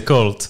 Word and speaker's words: Colt: Comment est-ce qu'on prononce? Comment vous le dites? Colt. Colt. Bah c'est Colt.